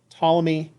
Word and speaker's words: Ptolemy: very accurate precise ptolemy good old ptolemy with a silent p so he was able